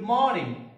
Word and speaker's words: morning: Good morning. Morning, morning. So R is here, but it doesn't sound.